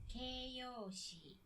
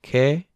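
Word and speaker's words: keiyōshi: And kyoshi, Keiyoshi, keyoshi. Let me repronounce that actually. Ke-e-yo-o-shi.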